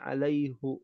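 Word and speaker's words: عليهُ: Ahada alaiullah fastihi ajranima aslinya Alaihi alaihillaha ya dibacanya alaihu menandakan bahwa memang hukum asalnya itu alaihu ya fihu aslinya itu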